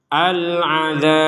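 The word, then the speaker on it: العذاب: Al-azab, al-azab.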